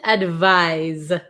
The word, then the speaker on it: advise: a piece of advice advice Z is um the verb form so to advise someone